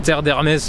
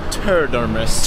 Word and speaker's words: Terre d'Hermès: me suis dit bah je vais pas lui répondre Terre d'Hermès avec l'accent bien français, elle va rien comprendre, donc je me suis dit je vais angliciser un petit peu la prononciation. Donc j'ai répondu Terre d'Hermès. Terre d'Hermès.